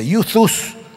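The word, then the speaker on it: εὐθύς: Y fíjense ustedes qué curioso, el Evangelio según San Marcos usa la palabra griega que se escribe E-U-T-H-U-S y se pronuncia YouTube, que no tiene nada que ver con YouTube, por cierto, es otra cosa.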